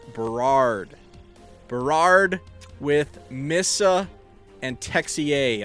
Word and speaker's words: Berard: I've realized I've been saying this guy's name wrong. It is not Bernard. It is Berard.